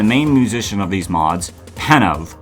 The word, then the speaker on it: Penove: musician of these mods, Penove, who I kept pronouncing as Penove. That, I feel stupid for not realizing that E was silent.